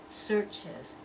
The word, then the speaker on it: searches: And then searches, searches. One syllable, search, searches, two syllables.